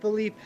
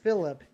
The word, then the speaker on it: Felipe: His name is uh Felipe. Gotcha. Felipe. And I know it's pronounced Felipe and not Phillip because there's an E on the end.